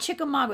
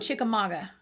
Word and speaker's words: Chickamauga: We call it Chickamauga. It's spelled Chickamauga, but all of us locals call it Chickamauga.